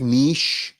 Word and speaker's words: niche: And it was a very, specific niche of things that I enjoyed doing in high school and people that I liked. Well, And by the way, hold on, timeout. Bonus points for pronouncing it correctly. Niche.